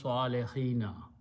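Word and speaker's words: الصالحين: we have learned that in a plural vow changes into a yah so it becomes swallo hina okay if it was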